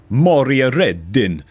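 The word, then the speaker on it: Maria Redin: Okay, MTG's Group President and CEO, Moria Reddin. You're gonna say it like that, man, because she's Swedish, okay?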